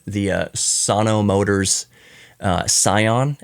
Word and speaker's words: Sion: in a moment the uh Sono Motors uh Scion s i o n I believe is how you uh spell it that is a vehicle that is absolutely